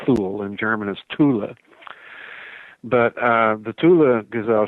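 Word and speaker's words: Thule: known as the Tula gazelle shop it's usually mispronounced right fool it's it's not fool in German is Tula but uh the Tula gazelle chapter the Tula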